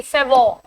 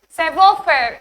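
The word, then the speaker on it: savoir-faire: Now see Savoy. You won't be pronouncing it as Savoy. Savoy. Savoir faire is a French word.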